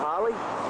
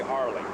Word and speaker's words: Harley: We're from the South. We say Harley. Harley. Yes, you say We don't Holly. pronounce our R's.